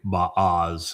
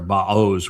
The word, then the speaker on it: Boaz: Boaz. It's actually Baaz, or Baoz would be the proper pronunciation if you were to look at the component parts.